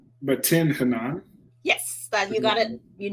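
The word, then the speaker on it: Tin Hinan: I'm trying, even following the pronunciation, I don't want to get this wrong. But Tin Hanan.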